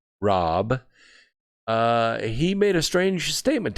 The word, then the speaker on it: Raab: Fred Raab, that's spelled R-A-A-B, Rob.